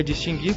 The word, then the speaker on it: distinguir: Vou dizer o seguinte, a palavra distinguir é distinguir porque essa pronúncia foi consagrada segundo o falar, o uso no Brasil.